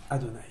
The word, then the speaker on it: Adonai: Et comme on ne lit pas tel qu'il est écrit, on a choisi de le prononcer Aleph, Dalet, Nun, Yud, et on lit Adonai.